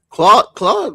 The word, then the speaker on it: Clau: Well, I think her name's pronounced Clau, which is short for Claudia. Yeah, Clau. Mm-hmm. Clau. Yeah. In Spanish, it's pronounced Clau, which is short for Claudia, which is pronounced Claudia in Spanish.